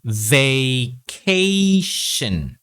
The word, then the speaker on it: vacation: lessons, I discussed that for words ending in tion, it should be pronounced as shin. Okay, we don't pronounce the O sound. Okay, vacation. Okay, so both A sounds are long A sounds. Vacation. So the TON should be just shin. Okay, not shon. There's no O sound.